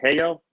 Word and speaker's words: HAYO: or contribute to uh how you say hey yo hey yo hey yo okay i didn't want to say it wrong i know it's h-a-y-o helping our youth overcome